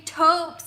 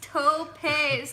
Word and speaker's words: topes: would be like, seriously, stop saying topes. It's pronounced topes, topes, topes. It was like... Maya and me says, pronounce like dopes, LOL.